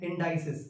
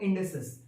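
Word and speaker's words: indices: Exponents को इंडेसेस भी कहा जाता है, कई बार इसको लोग मिसप्रोनाउंस करते हैं इंडाइसिस, बट वो है इंडेसेस।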